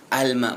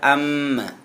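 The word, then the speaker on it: الماء: ya tib almau mim Alma bukan Amma Tapi bacanya jelas Al bunyinya yang ke-12 ananiasyar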